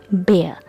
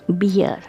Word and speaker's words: bear: teachers Mis pronounce its name so the correct pronunciation of this animal is bear not beer it's not titty beer it's bear bear bear